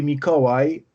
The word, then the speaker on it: Mikołaj: It's first name will be Mikołaj, and or you can simply call me Miko, and the last name is.